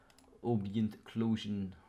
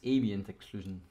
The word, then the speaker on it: ambient occlusion: So I don't use um obientient occlusion or where is it? Let me just find it. No, it's ambient occlusion. That's how you pronounce it.